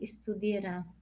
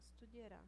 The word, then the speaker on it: studierà: lei estudierà. Esatto, studierà. Com accento sulla A, studierà.